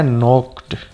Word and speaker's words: knock: इसमें new word आया नोक्ड, KNOCK। ये नोक जो है के से शुरू हो रहा है ना, तो स्पेलिंग आप इसकी याद रखिए।